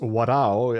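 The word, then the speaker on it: 笑う: And the story, as I understand it, etymologically, is that the character to laugh is pronounced warao as a verb, yes, to laugh.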